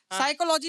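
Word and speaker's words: psychology: नो में के silent, साइकोलॉजी में पी साइलेंट।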